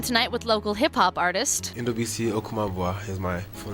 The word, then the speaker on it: NDU: Sitting in tonight with local hip-hop artist Endo is my full name. Awesome. And then in terms of a stage name, you actually took the first three letters of that. It's a NDU, pronounced Endo.